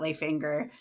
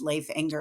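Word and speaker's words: Leif Enger: book signing and they introduced him as Leif Anger and I was horrified and I was like I have to email all of my students.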